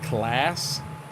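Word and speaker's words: Claas: crazy on is the the klous and they call it class uh we've always called it klous uh I I mean right wrong or indifferent that's just how how we've always pronounced it here oh Lord that's why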